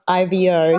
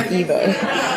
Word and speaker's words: Ivo: So his name is spelled IVO, so I keep calling him Ivo instead of Evo.